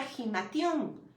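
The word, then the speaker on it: ἱμάτιον: Lo tenemos en el 2440 del Strong y se pronuncia gimation.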